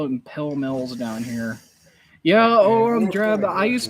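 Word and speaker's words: Pall Mall: because you could still do those and they pronounce it it is pill mill that bothers me it does but it's pillow mill they pronounce it pill mill that's what it is uh raider jna question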